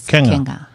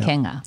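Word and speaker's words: Quenga: I was trying to make a Q sound out of it, and it's just Kenga. Yeah. Kenga. The way he explained it was kangaroo without the roo.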